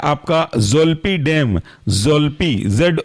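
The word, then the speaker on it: Zolpidem: ई एस जोपी clone अगला example है आपका जल्प डेम जल्प जड ओ एल पी आई और डेम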